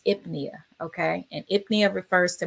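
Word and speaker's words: pnea: get those confused and pronounce that ebony as penia that's not penia that is ipnia okay and ipnia refers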